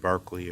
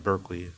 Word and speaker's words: Berkeley: through the reflections in Bishop Berkeley or Berkeley because the Americans say you see this this